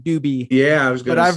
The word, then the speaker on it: Dube: i apologize rate uh ironic growing up in the state of colorado with the last name doobie yeah it was good i've heard it all scooby dooby dooby you know doobie brothers you name it